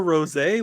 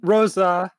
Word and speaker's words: Rosa: Wait, was that Ultra Rosé, like the wine? No, Rosa. Rosa? Oh, okay. Ultra Rosa? R-O-S-A with an accent on the A.